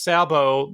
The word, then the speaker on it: sabot: pardon the pun because sabo the tea is silent in French it's the wooden shoe